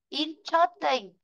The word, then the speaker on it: interesting: Ở đấy nhá, interesting thì từ này nó sẽ rơi vào chữ in, còn chớt là âm